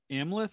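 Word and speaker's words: Amleth: based on a scandinavian legend of ameleth i think is how you pronounce the name so how important was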